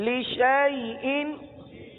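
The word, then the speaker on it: لشيء: الف ختم ہو گیا، الف کو نہیں پڑھنا، شین کو یا کے ساتھ ملا کر پڑھنا ہے۔ اب مثال کے طور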